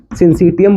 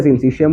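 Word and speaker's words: syncytium: सिंसिटियम बोल दो या सिंसिशियम बोल दो, सेम ही बात है, प्रोनाउंसिएशन की ही फर्क है।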